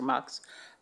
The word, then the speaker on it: Mx: Doctor you can use MX which is pronounce either mix or MX as a gender neutal